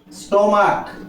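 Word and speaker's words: stomach: আবার একই ধরনের আমি যদি বলি মোনারক স্টমাক এখানে উচ্চারণটা দেখো মোনারক এটাও সিঙ্গুলার এই সিইচ এর উচ্চারণ এখানে কি হয়েছে দেখো সিচ এর উচ্চারণ হয়েছে ক বা কে আর এখানে উচ্চারণ হয়েছিল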